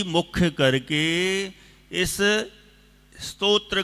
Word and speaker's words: स्तोत्र: हाँ, इसका उच्चारण भी ध्यान रखना। कई लोग स्तोत्र कर देते हैं, कई लोग थोड़ा ज़्यादा ही सुधारने के चक्कर में स्रोत कर देते हैं। ना तो स्तोत्र है और ना स्रोत है, तो क्या है? स्तोत्र। थोड़ा सा साइलेंट बोलना है।